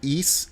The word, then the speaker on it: Ys: random game ever um it's called east 8. for those of you who aren't familiar with the east series is been around it's spelled ys since the original final